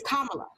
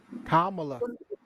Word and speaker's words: Kamala: it's not mala it's kamala kamala hamala so think of a punctuation mark a comma and then put la on the kamala and i've been saying